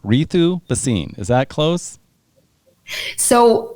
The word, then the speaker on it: Ritu: Ritu Bhasin. Is that close? So my parents are from India, yes, and they gave me a name. I pronounce it as Ritu.